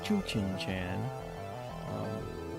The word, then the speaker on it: Tsuchinshan: Comet Tsuchinshan, and I guess depending on your dialect, it could be pronounced Tsuchinshan. But we're looking at the tail of the comet here.